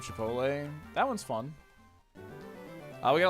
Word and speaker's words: Chipotle: How come every boomer says Chapatle instead of Chipotle?